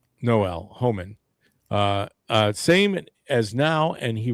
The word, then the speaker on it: Homan: Obviously, yeah, it's H-O-M-A-N. Yeah, Holman.